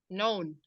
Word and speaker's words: known: known. No. Ya, Gimana known. known? Jadi K-nya nggak dibaca ya.